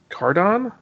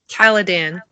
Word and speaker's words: Caladan: Personally, I like the fact that we only see the beginning of uh, Duke Leto on Cardon? Caladan.